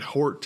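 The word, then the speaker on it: Hjort: do a search on Richard Hort, and that's spelled H-J-O-R-T. That's Richard Hort, H-J-O-R-T.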